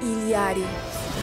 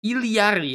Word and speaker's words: Illari: salid right I am ilari ilari as if there's another I in there ilari okay that's just think